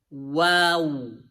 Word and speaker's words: و: So try to pronounce it as wow, wow. So make your lips like this first, and then try to bring them, take them back.